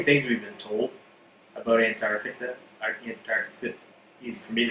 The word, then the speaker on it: Antarctica: just say antarctica like antarctica yeah and so they don't pronounce that t and i was like